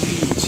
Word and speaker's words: beach: Veja só, beach é um i alongado que a gente fala beach.